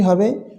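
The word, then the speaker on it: حاء: হা, হা অর্থাৎ কণ্ঠ দিয়ে আগে বাতাসের শব্দ বের হবে, তারপরে এর উচ্চারণটা আসবে। কণ্ঠতে আগে বাতাসের শব্দ বের হবে, তারপরে এর উচ্চারণটা আসবে হা।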